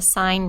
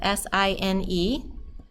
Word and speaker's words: sine: Now, sine is actually spelled S-I-N-E, but we abbreviate it S-I-N. So don't say sin, it's sine.